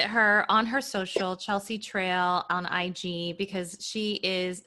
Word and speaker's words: Traille: just my name and my last name is spelled uh like braille with the t it's t-r-a-i-i-l-l-e and it's chelsea trail chelsea with the ea at the end chelsea trail so that's my name